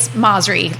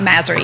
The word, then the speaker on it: Masri: So, and I'll just say it's Masri, like Mazda. Well, no, I think she I understand my maiden name, but not Masri.